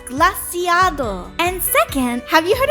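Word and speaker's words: Glaseado: another one of the 10 sides of Pala, Glacito's Grasp. First of all, it's pronounced Glaciado.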